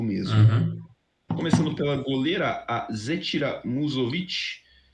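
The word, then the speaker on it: Musović: começando pela goleira azeitira muzzovit que esse S tem o coisinha em cima Então deve ser pronunciado assim mas o Sérgio também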